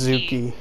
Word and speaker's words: Zuki: Is that how it's pronounced? Zuki or yes. Zucky? Okay, it's Zuki.